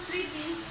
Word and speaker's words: স্মৃতি: কখনো কখনো এই ম ফলার উচ্চারণটা তোমার কি থাকে? অনুচ্চারিত থাকে। যেমন স্মৃতি, উচ্চারণ হয় না, শ্রী রি তয়রশ্রী, ম ফলার উচ্চারণটা কি? স্মৃতি। আমরা সাধারণত উচ্চারণ করি, মটা আর উচ্চারণ করি না, স্মৃতি, জাস্ট স্মৃতি, এভাবেই উচ্চারণ করি।